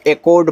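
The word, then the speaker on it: echoed: ई सी एच ओ ई डी को एकड पढ़ते हैं। एच ओ डी मत पढ़िएगा। एकड पढ़िएगा। क्योंकि सी एच भी आपका का बनाता है जब ज्यादा करके ओ के साथ आता है। ऐसे आप स्कूल में क्या करते हो? एस सी H double O एल करते हो तो वहां आप सी एच को का पढ़ रहे हो तो इसलिए यहां भी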